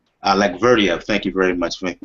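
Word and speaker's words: Allakhverdiev: Um, folks, I can't pronounce it. Alak Verdia. Alec Verdia.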